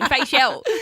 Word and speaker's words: Fayshell: I don't want to say it wrong. Fayshell. Fayshell. Yeah, Fayshell.